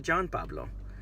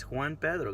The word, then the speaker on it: Juan Pedro: Pedro Mac Juan Pablo not John Pablo not who meat Oh poo no it's it's Juan Pedro that's my name just